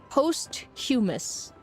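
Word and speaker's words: posthumous: Your husband arrived to say it's pronounced post humus.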